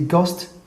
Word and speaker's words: ghost: ghost ghost you see ghosts this world edge is this one is silent ghost H is silent here so number 11 have